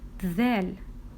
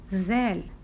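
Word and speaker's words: ذ: sister little Above It One Dot we do pronounce it zel zel look here please so this is litter Dell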